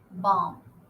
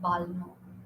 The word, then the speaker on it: balm: not walk it's walk bom not balma bom talk not talk talk